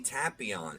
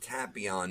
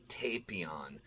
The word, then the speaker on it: Tapion: and we do see tapion and yes it's pronounced tapion not tapion uh the dub is wrong it's tapion it's a tapioca pudding reference but we see him